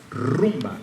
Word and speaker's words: rumba: Cuba that is called rumba. Can you say that with me? Rumba. Roll your R's a lot.